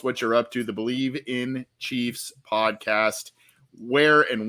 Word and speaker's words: Bleav: an odd spelling uh b-l-e-a-v but it is pronounced believe it's the believe podcast